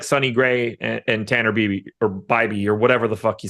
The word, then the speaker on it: Bibee: It is Bibee, but it doesn't sound right.